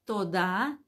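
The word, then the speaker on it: תודה: se dice Gracias en hebreo a ver de toda la gente que está aquí conectada alguno se acuerda dice eh torón dice se dice tod rabá Gracias O sea la palabra Gracias se dice tod t o d a tod y muchas gracias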